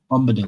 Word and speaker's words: Bombadil: Is it Bombadil? Am I saying it right? Yeah, Bombadil.